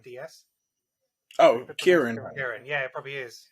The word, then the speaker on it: Ciarán: It has a little apostrophe on there, and it's actually pronounced Kieran. Hinds. Oh, Kieran.